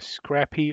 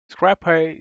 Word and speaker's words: scrcpy: uh app actually uh it's called CR uhr cpy Scrappy or Scrappy so uh Scrappy Scrappy whichever you want to pronounce it is an application uh